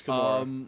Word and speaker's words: Kimura: I got that name wrong, but that's Yes, okay. It's Kimura.